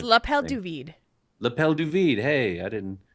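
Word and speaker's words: l'appel du vide: AKA call of the Void which I probably butchered the it's lapel duid lapel duid hey I didn't know that there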